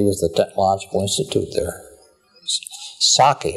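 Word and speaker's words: Csáki: Saki, as I pronounce it, probably C-S-A-K-I with kind of a little wiggle over one of those. However you pronounce it. I always said Saki and let it go with it.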